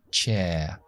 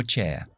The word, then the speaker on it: chair: Fíjate que al final de esta palabra hay una R. Chair. No la pronuncio. Yo soy inglés del Reino Unido, británico. De Inglaterra, de hecho. Y en el inglés estándar británico no pronunciamos R's después de vocales. Así que yo digo chair, pero a lo mejor alguien de Estados Unidos diría chair y metería esa R ahí con mandíbula, chair, ahí.